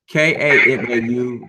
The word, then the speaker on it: Kamau: Kamal Bell. Let's say his name well. Say it right. Kamau Bell.